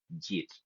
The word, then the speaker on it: Git: Some people pronounce it as Git, but may I pronounce it as Git. So again, that also depends where you come from and whoever your teacher of English was.